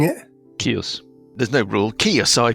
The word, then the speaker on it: Kyuss: I be pronouncing it kios there's no rule kios I pronounce it it's KY USS yeah Kos I was in chaos well it sounds a bit like chaos I've always thought so